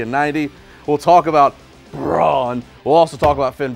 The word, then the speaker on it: Braun: Braun.